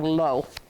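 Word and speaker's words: לא: Okay, but this is this typical way of spelling lo. And lo means no. It rhymes with no.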